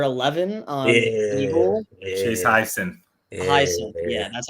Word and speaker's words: Hyacinth: Hyacinth. Yeah, that's how you pronounce the last name.